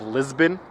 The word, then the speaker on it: Lisbon: and arrived in Portugal in the city of Lisbon, pronounced in English.